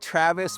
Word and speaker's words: Travis: But Travis is just Travis.